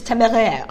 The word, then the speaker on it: Téméraire: In French it's téméraire. Téméraire.